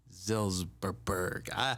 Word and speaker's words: Zilberberg: I kind of want to talk it into existence and say presidential candidate Zilberberg.